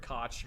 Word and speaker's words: Koch: heckler and coke or heckler and koch however the hell you want to pronounce i say koch everyone says koch it doesn't matter what you're dumping out